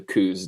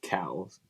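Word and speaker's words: Coues: going to go to the coos deer, which I guess Tim says cows. Tim's one of those weird guys that say it correctly.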